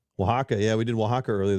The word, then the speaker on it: Oaxaca: You started out in how do you pronounce it? Oaxaca? Oaxaca, yeah.